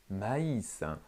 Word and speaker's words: maïs: où haïti où le maïs pour ne pas prononcer est un groupe de voyelles il faut le prononcé à hisser pour faire ce qu'on appelle une diphtongues aïe aïe l'accent souscrit